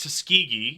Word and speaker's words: Tuskegee: no come on what's tusi what's Tusk it's pronounced Tuskegee Tuskegee it is a location in the United